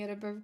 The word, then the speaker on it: Edinburgh: As an Edinburgh native, thank you for pronouncing Edinburgh correctly.